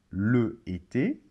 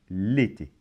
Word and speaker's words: l'été: Alors, on ne va pas dire, par exemple, le été, mais on va dire l'été. Donc, comment ça se prononce? Ça se prononce comme si, dans l'été, comme si le L était collé.